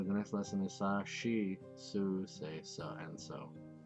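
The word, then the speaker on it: し: The slight exception to this is she, which adds a soft H sound. She. That's what I said, right? She.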